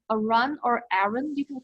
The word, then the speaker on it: Arun: Samantha, Samantha I'm not sure how to pronounce the last name. A R U N, Arun or Arun?